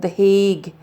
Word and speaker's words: The Hague: you may not have heard of is called The Hague that's how you pronounce that word he um okay the currency